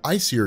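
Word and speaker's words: Æsir: of gods you have what are called the icier gods I think is how it's pronounced and then you have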